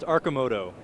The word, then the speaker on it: Arcimoto: do you pronounce that it's pronounced aramoto aramoto and we're here